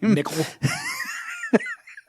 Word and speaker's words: Mikl: He's even got it spelled like a new age, like hipster name. Mickle.